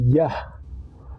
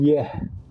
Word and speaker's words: Yah: bagi nama bapa surgawi dibaca menjadi yah bukan yeh karena tidak akan sesuai dengan yang tertulis di dalam Alkitab sedang pemb Pembacaan huruf